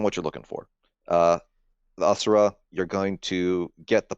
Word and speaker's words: Asura: Asura, yeah, Asura. Okay. Okay. If anyone wants to challenge me on that, fine, let's go for it. But it depends on what you're looking for. The Asura, you're going to get the population.